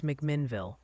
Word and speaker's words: McMinnville: Also, quick PSA from the pronunciation police What in are you chat. doing? They insist it's McMinnville, not whatever creative spin you put on it.